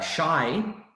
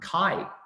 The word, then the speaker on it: chi: And so shy is very similar to this word chi, it's pronounced in Greek, in the Greek alphabet.